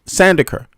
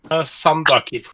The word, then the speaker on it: Sandaker: Sandaker. Yeah, Sandaker would be the English pronunciation. Yeah. Okay. Sandaker. Is it that one? Is it how do you say it in Norwegian? Sandakir.